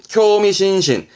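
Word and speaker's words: 興味津々: 발음은 쿄미신신, 쿄미신신.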